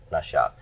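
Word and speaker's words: נשיו: So nashav, nashav. Remember, we don't pronounce the yod on this 3ms pronoun suffix.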